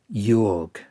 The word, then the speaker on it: Joerg: In the original version of the story, published in Weird Tales, the protagonist is called Tom Yorg, or at least that's how I pronounce it, spelled Joerg.